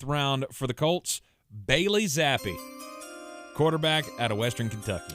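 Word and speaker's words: Zappe: for the Colts, Bailey Zappi, quarterback out of Western Kentucky. I'm still going to maintain he says his name wrong. If your name is Bailey Zappi, it should be Zappy, not E, because your name is Bailey Zapp.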